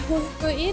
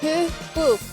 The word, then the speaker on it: Hyhky: Jadi Hyhky itu nulisnya kayak gitu tuh. Yang Hyhkyn, kalau kita bahasa Indonesia bacanya Hihkin. pakai y itu dibacanya y. Jadi nama kotanya Hyhky. Hyhky Paikpakoti itu artinya adalah deker di daerah Hyhky. Jadi bahasa Finlandia itu emang berbeda. Kalau huruf y dibacanya y.